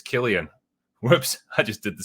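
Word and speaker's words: Cillian: Murphy back in 2008 he kept pronouncing his name San and eventually Murphy politely told him it's Killian whoops I just did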